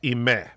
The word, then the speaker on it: Ime: my late sister-in-law uh her name was spelt i-m-e and it was pronounced imei and so which yeah